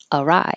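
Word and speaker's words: awry: longer world girl arai arai looks different than it sound arai things have gone arai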